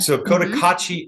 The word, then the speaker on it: Cotacachi: Cotacachi, is that how I'm saying it right? Yep. So Cotacachi, Ecuador, which I was looking at the map,